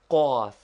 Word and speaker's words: ق: This guttural consonant is pronounced with a vowel by contracting the throat. Say kaf first naturally, then with a short a sound and contracted throat like the cawing of a crow.